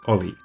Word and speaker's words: o11y: And O11Y is not much shorter than observability, that's why it's pronounced OLI.